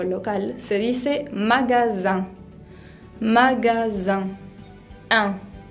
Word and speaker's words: magasin: Para decir la palabra comercio o local se dice magasin. Magasin. Un. La I con N se pronuncia un. Magasin. También la palabra mañana, por ejemplo, se dice matin.